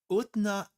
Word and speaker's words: Utnapishtim: It's Utnapishtim. Utnapishtim's ship. Utnapishtims? Utanapishtim?